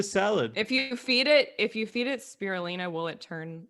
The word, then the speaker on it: spirulina: If you feed it spirulina, will it turn like pretty green color?